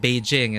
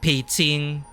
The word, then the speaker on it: Beijing: But for example, Beijing isn't Beijing, it's Beijing.